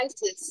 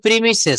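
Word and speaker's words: premises: Bangla academy free মাই প্রাইসেস হ্যাঁ এটা উচ্চারণ হবে প্রিমিসেস মানে মাঠ প্রিমিসেস এর অর্থ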